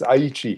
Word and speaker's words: Aichi: and just to check the pronunciation of aichi did i get that right or was i off i think you did very well i think it's aichi yeah aichi got it got